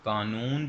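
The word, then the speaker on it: cannon: Double N है, और कानून जो है वो कानून है और इसका मतलब भी कानून है, वैसे इसे कैनन पढ़ना है आपने इंग्लिश में। सो प्रोनाउंसिएशन का ध्यान रखना है आपने।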